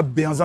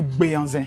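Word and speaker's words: Béhanzin: On dit on dit pas Benzin, on dit Béanzin.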